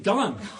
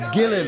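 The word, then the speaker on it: Gullane: Oh, you mean Gullen? The correct pronunciation is Gillen. That's what you say. We ordinary folk, we call it Gullen, which is what it is.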